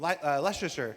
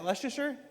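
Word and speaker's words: Leicester: Uh, straight out of Klesure back to the hex photos from Lester. How do you say? Is that Leasher? Lester. Lester.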